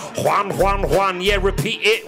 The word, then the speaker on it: Juan: He's like, basically it's John, but pronounce it differently. Juan, Juan, Juan.